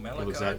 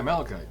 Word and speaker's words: malachite: from the egg i always say it wrong melancholic milo's shot oh yeah malachite yeah yeah oh yeah gems from the head